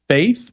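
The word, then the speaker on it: F8th: I think the one is supposed to be pronounced Faith, but it's spelled F, the number 8, and then TH.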